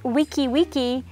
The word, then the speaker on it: wiki wiki: And even though it's spelled wiki wiki, it's actually pronounced with a K at the end, wiki wiki.